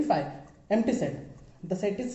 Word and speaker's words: phi: हैं, जिसका सिंबल को हम बोलते कैसे हैं, फाई, PHI, फाई। ठीक है, हमारा जो प्रोनाउंसिएशन होना चाहिए फाई होगा, और उसको हम लिखेंगे फाई की तरफ से।